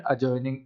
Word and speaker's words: adjoining: एक नोटिस लेंगे कि अगर कोई भी वर्ड उसके अंदर एडीजे, ये 3 लेटर्स का कॉम्बिनेशन आपको मिलता है, तो डी वहाँ पे साइलेंट हो जाता है।